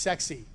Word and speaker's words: CEXC: first is called cexc this is pronounced sexy really is trust me stands for Combined explosives